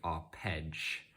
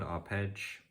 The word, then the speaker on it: arpegge: That's just a very brief introduction to the arpegge mode in Lubomyr's music. That's a different word to arpeggio. I'm not just mispronouncing it. He has his own word, arpegge, which I guess it